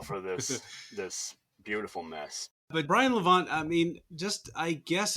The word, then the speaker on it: Brian Levant: Brian Gallant? No, Vallant. I'm sorry, I got his name wrong. Shit. Brian Levant.